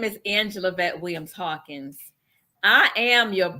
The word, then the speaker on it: Angelavette: bit about who you are and say the pronunciation of your first name correctly because I screwed it up so my name is Angela vet Williams Hawkins I am your purpose pushing machine